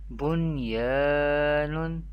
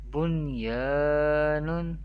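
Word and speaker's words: بُنْيَانٌ: Dunya, Bunyanun, Sinwanun, Qinwanun. We pronounce the Izhar-e Mutlaq rule in an Arabic accent without Gunna or without nasalization. How do we pronounce the Izhar-e Mutlaq rules? Dunya, Bunyanun, Sinwanun, Qinwanun.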